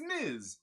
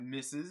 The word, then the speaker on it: Ms.: I'm like, yeah, it's Ms. It's not Mrs. It's not Miss. It's Ms. Don't get me wrong, I love my Scarlet Witch, but I love Alexis Texas a lot more.